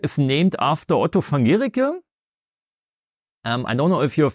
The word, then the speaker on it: Guericke: And so it's pronounced Guericke.